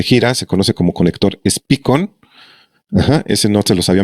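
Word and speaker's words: Speakon: SPICON se llama, SPEACON se escribe.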